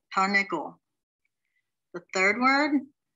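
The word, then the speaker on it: תרנגול: The second word, tar, the first shva stops a syllable, and when you have two shvas, the second one has its own syllable. Ne, gol, tarnegol.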